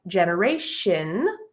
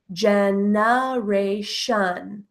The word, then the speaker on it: generation: However, as you saw in the dictionary, on Merriam-Webster's Learner's Dictionary, the TION can also be pronounced with the schwa as shun. Remember, the schwa is an sound. So shun, generation, generation, generation, generation.